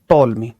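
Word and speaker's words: Ptolemy: सन 20 का मतलब आज से 2004 साल, 2004 साल पहले एक वैज्ञानिक आते हैं जिनका नाम है टॉलमी। ये टी इसमें साइलेंट है, इनका नाम है टॉलमी।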